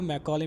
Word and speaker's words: Macaulay: मैक्यूले minute आप बोलो, लेकिन ये मैकाले मिनट होता है, ठीक है ना, लेकिन आप ज़्यादातर उसको मैक्यूले मिनट प्रोनाउंस करते हैं।